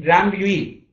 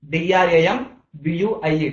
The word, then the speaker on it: Drambuie: That is, suppose if you take Drambuie, D-R-A-M-B-U-I-E, Drambuie, that is a combination of honey and as well whiskey.